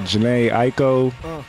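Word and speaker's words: Jhené Aiko: to find something that you wouldn't maybe uh Jana Aiko is that how you say her name yeah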